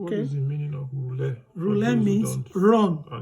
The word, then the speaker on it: rhulę: When you say rhulę, it means that this E comes with a diacritic.